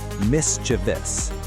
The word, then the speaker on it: mischievous: A lot of us want to say mischievous with four syllables, but look closely. There's no I after the V. It's actually only three syllables. The right way to say it is mischievous. The stress is right at the start.